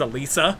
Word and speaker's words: Alessa: Because he struggles with pronouncing things sometimes, like Alessa from Silent Hill, which he never said her name right in the entire game. It's Alisa.